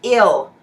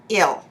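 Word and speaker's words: -yl: and the suffix is ill yl pronounced ill so we haven't changed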